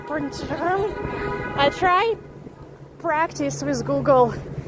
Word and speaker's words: Printemps: Like imagine like old French words where you just say first 3-4 letters and the rest of the word you just like this. So it sounds like Printemps.